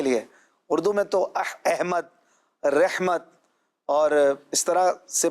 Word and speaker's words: احمد: کہہ رہے ہیں کہ احمد نام درست تلفظ اردو اور عربی میں کیا ہے؟ عربی میں تو احمد ہے، اردو میں بھی احمد ہے، احمد بھی ٹھیک ہے، اردو میں احمد بھی ٹھیک ہے.